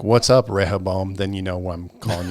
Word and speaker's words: Rehoboam: And then they get that Rehoboam, or I can't remember how to pronounce it. Yeah, Rehoboam.